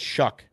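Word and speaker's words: Shough: um Louisville Tyler Shaw I guess they pronounce his name it's actually uh I think it's shuck shuck okay yeah crazy name yeah it's a weird weird pronunciation for how it's spelled 65 225 his game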